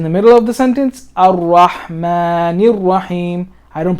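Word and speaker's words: الرحمن: Al or Ar-Rahman, because this is a sun letter, you don't pronounce the lam.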